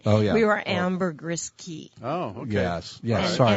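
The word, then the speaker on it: Caye: We were Ambergris Key. Oh, okay. Yes. And, sorry. And Key is spelled C-A-Y-E.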